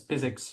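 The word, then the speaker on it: PyZX: So we we built this library that we call physics. So pi xx but we just pronounce it as physics like physics without the h.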